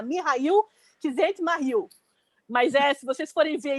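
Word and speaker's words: Mihály Csikszentmihalyi: É o Mihail, a pesquisa que eu fiz me mostra que o nome dele se pronuncia Mihail Csikszentmihalyi, mas se vocês forem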